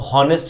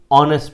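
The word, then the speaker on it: honest: Silent वाली बात करें, जहाँ पर एच साइलेंट हो, आर में एच साइलेंट होता है ना, हम इसको हावर नहीं पढ़ते, आर पढ़ते हैं। हम इसको हॉनेस्ट नहीं पढ़ते, ऑनेस्ट पढ़ते हैं, ठीक है।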